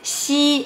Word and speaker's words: xi: The first things you need to do is put the tip of your tongue down behind the bottom of your teeth and then move the front part of your tongue towards the position pointed out here. More specifically, this position is before the palate and after the alveolar.